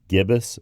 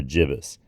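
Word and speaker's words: gibbous: called gibbus or jbus I tend to say gibbus but that's just my choice I think a lot of people say jbus as well and that's spelled g i b b o u s and you could be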